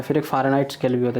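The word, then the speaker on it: Fahrenheit: तो इसका स्पेलिंग क्या हो गया? CHAMPAGNE, champagne. फिर अगला है फ़ारेनहाइट।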